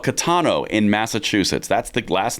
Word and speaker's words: Caetano: There's a case called Catano in Massachusetts.